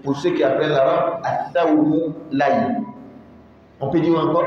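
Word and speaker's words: ثوم: Foum, dans une autre manière de prononcer, thoum.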